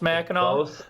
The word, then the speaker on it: Mackinac: It's both pronounced Mackinac, but they're spelled differently.